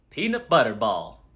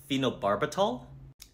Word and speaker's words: Phenobarbital: Peanut butter ball. What? Peanut butter ball. Phenobarbital? That's the one. You sure pronounce it funny.